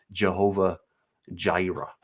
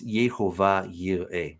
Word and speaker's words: Jehovah Jireh: So this is the Jehovah Jireh. Again, I think that's very American pronunciation, but it's Yehovah Yireh. That's what it actually is in Hebrew.